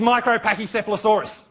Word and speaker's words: Micropachycephalosaurus: Now, the longest dinosaur name is Micropachycephalosaurus. Oh, that was a bit ragged. Can you guys say micro? Micro. Micropachy. Micropachycephala. Micropachycephalosaurus.